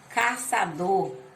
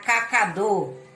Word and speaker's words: caçador: Então, ó, letra C cedilhada com som da cedilha indica som de letra S. Exemplo, caçador. Se eu não botar a cedilha, vai ficar cacador.